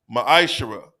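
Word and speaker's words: מעשר: verses 8 through 10 means tenth in the Hebrew is pronounced maishara ten percent of every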